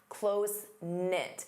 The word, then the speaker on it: close-knit: Notice the K is silent. Closenknit.